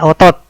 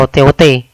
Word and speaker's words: otot: Ini contoh yang kedua dari gaya sentuh, ya, namanya gaya otot, ya. Awas bacanya jangan keliru, ya, jangan dibaca gaya OT-OT, ya, gaya otot.